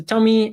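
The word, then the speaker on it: TomEE: towards Jakarta E10 um and it basically is pronounced a Tommy and is an application server that has around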